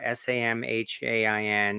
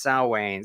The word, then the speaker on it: Samhain: halloween or someone as they call it or s-a-m-h-a-i-n yeah it's no it's not pronounced samhain it's pronounced salwain so yeah and so it is or as